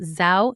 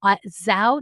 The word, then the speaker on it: Zhou: why I'm excited to talk to you about sow nutrition is spelt z h o u za nutrition one